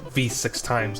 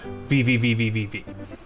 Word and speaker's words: VVVVVV: titled vvvvvv if you didn't know it's actually pronounced V6 times it is not vvvvvvvvv uh it was created by Terry Kavanaugh who